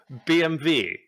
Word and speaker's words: BMW: in the correct way bmv why is bmw bmv is that just how you say it in german that's how you say it in germany yeah british motor works